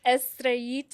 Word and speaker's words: Estrellita: It's Estraita. Estraita, which is a little star. Yeah, that's exactly right. Little star. Yes, it's a Spanish word.